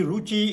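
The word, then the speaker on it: ऋ: री का उच्चारण विवादास्पद है, तो बच्चों को विवाद में नहीं जाने देना चाहिए। और इसका एक उच्चारण जो है रे, 2 सेकंड का, रे, इस तरह से इसका उच्चारण होना चाहिए। अब आते हैं ऐ।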